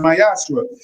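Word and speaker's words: מעשר: 3 8-10 means temp in Hebrew is pronounced myashra 10% of every of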